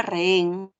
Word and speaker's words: rehén: un hiato acentual no Y la palabra rehén lo único que observamos en qué es vocales abiertas No claro entonces la abierta con la abierta se separa en la H ya sabes no le tomo a tiempo que no tiene sonido la H ya está por eso